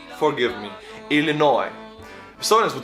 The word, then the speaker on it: Illinois: the names forgive me Illinois silence would say easily noise like s we pronounce this but you don't say it French also don't say the s in the end I think maybe it